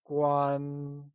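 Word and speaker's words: 关: try and say Quan it is said with a high level tone like gwaan great and lastly let's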